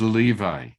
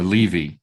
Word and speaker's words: Levi: discussion about Simeon and Levi. Okay, or Levi, depending on your on your pronunciation.